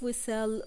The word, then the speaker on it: whistle: also we have silent T and we have whistle with silent T now we have the last